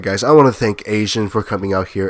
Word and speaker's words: Aesion: Alright guys, I want to thank AESION for coming out here, and yes, that is how you pronounce his name, so don't fucking say anything about this.